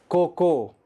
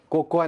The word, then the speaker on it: cocoa: Next word, very interesting word, COCOA, COCOA, कोको, कोकोआ नहीं, कोको।